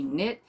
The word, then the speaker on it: knit: and that's murder she knit by peggy earhart that's how you say it and it's a nit and nimble knit and nibble series number one and it